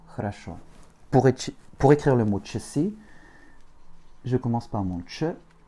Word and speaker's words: часы: Pour écrire le mot часы, je commence par mon ch, mon A, mon S et mon U, avec un accent tonique sur le U.